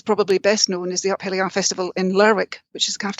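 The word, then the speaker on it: Up Helly Aa: Uphelia? Yes, Uphelia, that's fine.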